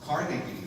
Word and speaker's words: Carnegie: But one interesting thing is, I've found out we've been pronouncing Carnegie Hall.